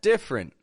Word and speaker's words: different: I hope you did because getting that different as two quick syllables that's the key different now the next